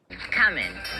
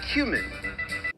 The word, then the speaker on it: cumin: Okay, so I'm gonna go in with Coming. Oh, you mean cumin? Kamen. Coming. Yeah, it's pronounced cumin.